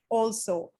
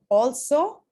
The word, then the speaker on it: also: that sounds also oh also we tend to say also it's actually also okay this is uh